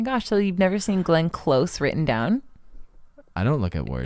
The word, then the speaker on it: Glenn Close: Klaus. Wait, is it close? It's Glenn Close. It's not even spelled like Klaus or anything. It's spelled like the word close.